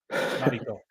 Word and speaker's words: Narito: I always heard that um, to say it correctly, you're basically saying naughty toe. Narito.